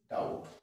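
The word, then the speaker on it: doubt: আছে তারপর ডাউট ডি ও ইউ বি টি ডাউট অর্থাৎ টি এর আগে রয়েছে তারপর ডাউট ঠিক আছে next C silent after yes and before K এন্ড জেড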